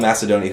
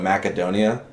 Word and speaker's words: Macedonia: been mispronouncing it know he called Macedonia called it makedonia and it was pissing me off the whole time every time he said it was like makedonia and I'm like no that sounds like mac